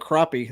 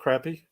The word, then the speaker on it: crappie: Yeah, I love crappie. I know you could catch crappie. Crappie? Did you say crappie or crappie? Crappie. Crappie? Yeah, we always pronounce it crappie here, but some people say crappie.